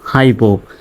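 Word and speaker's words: hypo: high উচ্চারণ হবে অর্থাৎ ওয়াইটা আই এর মত উচ্চারণ হবে পি ও পো হাইপো আবার দেখা যায় যে এই ওয়াইটা যদি শব্দের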